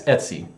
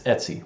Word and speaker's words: etc: total new friend thing to pronounce this as etc or something like that it's etsy kids it's etsy but i i never